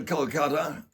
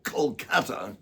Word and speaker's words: Kolkata: Then we go to Kolkata, or Kolkata, get his pronunciation right, to Eden Gardens, where